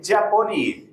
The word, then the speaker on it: Ciaponi: Me corregiste, Chiapponi. Se escribe CIA, se pronuncia Cha.